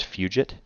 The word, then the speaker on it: Fugit: this guy reminds me i think the name is pronounced fugit f-u-g-i-t patrick fugit using